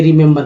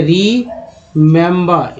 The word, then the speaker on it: remember: REMEMBER, इसमें 3 ही है, एक ही 2 ही और ये 3 ही। पहला ई का उच्चारण छोटी, दूसरा ई का उच्चारण जो है ए, तीसरा ई का उच्चारण आ के रूप में होगा।